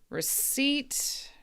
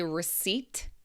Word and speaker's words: receipt: So in this word receipt we don't pronounce the P. Oh actually I think all of these all of these are silent P's. Okay. I think this might be a connection. Receipt, psycho, core and coup.